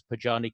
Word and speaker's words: Podjarny: Well, Podjarny from Snyk. did I pronounce Podjarny correct?